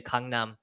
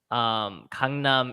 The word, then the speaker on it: Gangnam: I always think of the G, but it makes it sound like you have like a silent K in there, like a soft K. It's in between a K and a G.